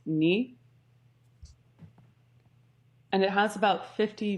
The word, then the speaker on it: nu: variant will be nu which i have been informed is pronounced knee and it has about